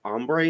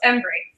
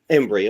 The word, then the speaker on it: Embree: Systems in Austin today we're joined by ombre is that how I pronounce it is that correct close embre embre Okay and she is the director for tulip